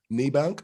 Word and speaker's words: Niebanck: survivor as well her name is uh nibank how you doing she's from new jersey